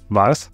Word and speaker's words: Wars: If you get hungry, you can go to the restaurant car called Vars. The name is not related to any war, so That's also why we pronounce it Vars.